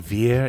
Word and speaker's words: Vir: And then Veer is VIR.